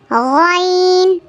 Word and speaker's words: غين: ரெண்டுமே ஒரே இடத்துல இருந்து தான் உச்சரிக்கப்படுது. ஹா ஐன் ஹா ஐன் ஐன் ஐன். طا ظا عين غين.